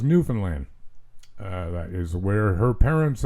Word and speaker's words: Newfoundland: She is, if not today, very soon winging her way off to Newfoundland. I said it like that for her benefit. Proper pronunciation, of course, is Newfoundland.